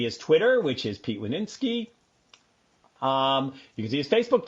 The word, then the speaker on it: Winiarski: It's 3 syllables, Winiarski. And so that you'll never forget it again, those 3 syllables are all words in themselves. Win, R, and ski. Winiarski.